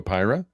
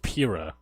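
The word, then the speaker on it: Pyrus: this him naming Drago pyra I believe it's pronounced PIR yes sorry PIR is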